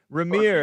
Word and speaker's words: Remir: REMIR is allegedly a first-time caller from Vegas, baby. Las Vegas, Nevada. REMIR, am I pronouncing it correctly? Yeah, yes, sir.